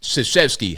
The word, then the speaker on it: Krzyzewski: Mike, the name starts with a K, but it's pronounced Krzyzewski.